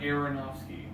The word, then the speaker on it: Aronofsky: gonna see I'm gonna say that was Darren Aronofsky and I'm probably pronouncing that wrong are they are go and they are om o sky it's right now Darren Aronofsky yeah so he's he's directed on Black Swan